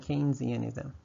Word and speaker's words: Keynesianism: Say that a few times because there are some people with PhD who don't even know how to pronounce it. It's Keynes and Keynesianism.